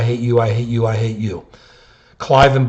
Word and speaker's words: Cliven: Cliven Bundy, and we mispronounced his name, Cleveland Bundy last time, has got to pay his $1 million, then maybe somebody will listen to him.